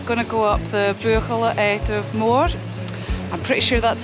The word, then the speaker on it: Buachaille Etive Mor: how you pronounce it it's not buckle or buckle or burgle i think it's a spur color and i've been reliably informed by susan who is a native gaelic speaker but that's how you pronounce it so vocal active more for those of you that struggle with that that's how you say it do we've